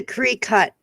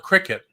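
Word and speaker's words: Cricut: Well, everybody tells me it's call it cricket. It's a Cree-cut. Is how it's pronounced.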